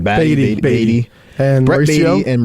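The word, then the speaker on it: Baty: Beatty.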